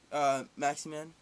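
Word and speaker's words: Maximin: Offensive-wise, I think they're going to need work, especially losing Maximan. That's how you pronounce it.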